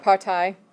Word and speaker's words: Partei: way, shape, or form, but Partei, E-I instead of a Y, is how you say political party.